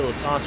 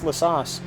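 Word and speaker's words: La Source: now that was after lasu we saw uh brokman run over lourus uh run over that uh GT3 car earlier Conor it's lasas we've been pronouncing it wrong this whole time yeah yeah I I'm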